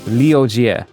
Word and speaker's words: Liogier: Liogier. You could say, I remember that I said to my American and British friends to pronounce it like liar jerk, and you get rid of the jerk thing.